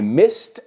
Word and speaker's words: missed: So, I missed my train. Y fijaos, la ed se pronuncia como una T.